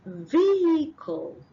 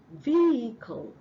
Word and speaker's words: vehicle: the next one is vehicle vehicle the H is silent and the next one